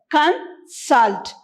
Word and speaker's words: consult: do you pronounce this khan salt so here we stress on the word salt so it's con salt when i move to